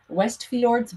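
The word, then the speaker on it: Westfjords: will be called wes i don't want to mispronounce that that's westford's wandering or west fjords wandering so we stayed in a little farmhouse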